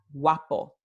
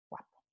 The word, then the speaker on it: guapo: También la secuencia de letras G-U-A, gua, gua, como en la palabra guapo, ¿sí? Tenemos G y luego esta secuencia wa, aquí. Si hay más constricción, entonces esta w no es una semiconsonante, es de hecho, no es una semivocal u, es una semiconsonante wa. Aquí, guapo.